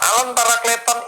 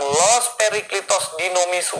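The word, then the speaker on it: ἄλλον παράκλητον: Nah, alon parakleton ini yang dulu Anda pernah bilang los periklitos dinomisu. Nah, itu. Padahal ini bacanya alon parakleton.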